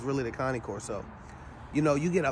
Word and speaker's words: Cane Corso: them so unlike with the Cane Corso the Connie Corso uh came for you know American people pronounciated differently but it's really the Connie Corso you know you get